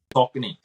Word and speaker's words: Saucony: I'm going to Saucony. Is that how we say it? So, how do you say it? Saucony.